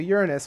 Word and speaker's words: Uranus: I do before we move on to to Uranus which is actually how it's pronounced guys I looked it up before we